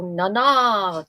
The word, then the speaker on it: Nana: That's how they pronounce it in the movie. These supposedly French guys go Nana, talking about this woman that